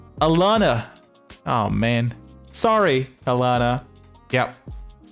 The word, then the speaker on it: Alana: Oh man, I mispronounced her name. I'm sorry. Alana's? Lana? Oh god, fuck. How do you pronounce her name? What is the name? Alana.